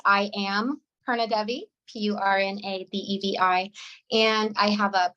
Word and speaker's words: Purna Devi: It's pronounced Purna Devi, right? But here in the Midwest, phonetically, it looks like Purna Devi.